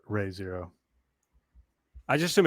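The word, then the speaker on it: Re:Zero: it's reason i think it might be actually pronounced ray zero i just assume it's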